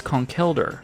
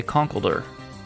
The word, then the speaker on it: Conkeldurr: This is Conkeldurr, but I just say Conkledur.